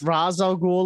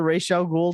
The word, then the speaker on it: Ra's al Ghul: There is no Ra's al Ghul or Ra's al Ghul, depending upon how you want to pronounce it.